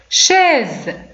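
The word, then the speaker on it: chaise: دونك نطقنا بها زد شاز. دونك لا شاز هو الكرسي، هذا اون شاز. دونك شاز نطقنا بها على شكل زد. كوز كوز.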